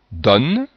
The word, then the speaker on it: don: Le O ouvert, don.